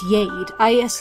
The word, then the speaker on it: Jade: I don't know why his pronunciation name is Yade. I took that to be a very Scandinavian thing, pronouncing J's as Y's.